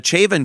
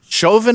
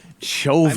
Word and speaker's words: Chauvin: And the uh Chavin trial, is that how you pronounce his name? Chauvin. I heard Chauvin. Chauvin. I mean the French would be Chauvin.